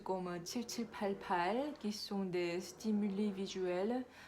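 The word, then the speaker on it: 팔팔: Comme vous apprenez par cœur le chiffre 7 7 8 8 en coréen ça se prononce comme palpal qui sont des stimulés visuels pour utiliser la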